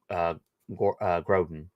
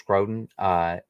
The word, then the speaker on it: Grodin: But I'm actually a really big fan of Charles Grodin. Right? That's how you say his name. Yeah, right? Charles Grodin.